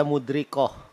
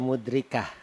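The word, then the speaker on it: مدركة: Ya, cuma kalau tadi saya dengar dari pelafalannya, Iya. tadi dibaca mudrikoh, Iya. padahal dia mudrikah.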